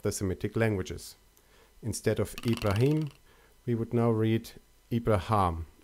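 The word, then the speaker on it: إبراهيم: In Arabic, they are pronounced as Ibrahim and Shaitan.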